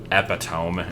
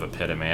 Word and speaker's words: epitome: Um there was epidome instead of epitome.